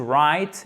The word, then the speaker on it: write: To be able to understand, and especially to be able to write, et pas write, hein, le W ne se prononce pas.